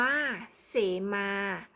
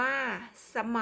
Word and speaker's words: เสมา: คำ ที่ 4 ค่ะ อ่าน ว่า เสมา หมาย ถึง เครื่อง หมาย บอก เขต โบสถ์ อ่าน ว่า สะ เหมา หมาย ถึง ต้น ยา ค่ะ ถ้า เรา สังเกต